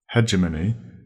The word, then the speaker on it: hegemony: Hegemony. That's spelled H-E-G-E, hedger, M-O-N-Y, money.